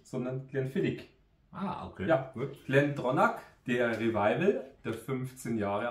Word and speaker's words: GlenDronach: das ist der glenonak also auch wenn er Glen dronach ausgeschrieben wird aber ich habe heute extra noch mal nachgelesen ch am Schluss wird als K ausgesprochen drum heißt es auch